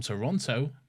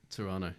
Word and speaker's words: Toronto: Lads much love from Toronto brais torano Dalton Toronto yeah I know um Ben from Canada gets gets quite excited when people say Toronto instead of Toronto so the the middle T yeah yeah it's like